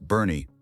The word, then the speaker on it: Boerne: There's a town in the Texas Hill Country called Boerne, pronounced Bernie, about 30 miles northwest of San Antonio.